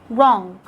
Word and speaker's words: wrong: you let your w letter w is going to be silent when it comes at the beginning of a word followed by an r like when you say write wrong wrist wrinkle rub and